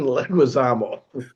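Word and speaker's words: Leguizamo: How do you pronounce his name? John Leguisamo. Leguisamo.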